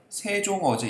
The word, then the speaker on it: 세종어제: 동국 정신 한자 표기에서는 받침이 없으면 형식 종성 이응을 표기하는데 발음하지는 않는다. 그래서 생종엉 써져 있지만 세종어제 이렇게 읽는 겁니다.